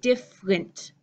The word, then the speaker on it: different: it in the comments my first word here looks like it should be three pieces deer fur lint but my shortened pronunciation in the United States I'm saying different different I know all the